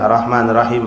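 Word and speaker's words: الرحمن الرحيم: Ah, shadda pada "ra." Jangan dilewatkan, kan? Arrahmanirrahim.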